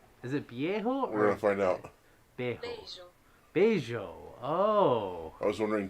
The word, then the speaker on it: beijo: Beijo. Beijo. Oh. I was wondering too how it's pronounced. Beijo. Beijo. Like banjo, but bejo. Beijo. But it's like beige, bejo.